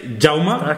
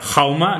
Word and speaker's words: Jaume: No esco ya Eh pues mi nombre es yauma que está que lo estoy hoy bueno en fin festival de humor jauma que es Jaime en catalán se pronuncia también se pronuncia yauma no se no se pronuncia jauma ni jaume